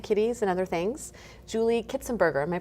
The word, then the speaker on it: Kitzenberger: photography for rescue kitties and other things Julie kitzenberger am I pronouncing it right yes perfect I love that